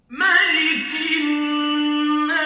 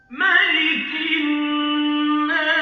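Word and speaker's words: مَلِكِ النَّاسِ: Sama ini ada hukum tajwidnya alif lam syamsiyah atau idgham syamsiyah yang menggabungkan huruf K dengan nun. Cara membacanya adalah ditahan. Berapa panjangnya? 1 alif atau 2 harkat.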